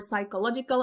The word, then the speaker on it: psychological: and they want to look for psychological and they mispronounce it with p at the beginning so it's mental health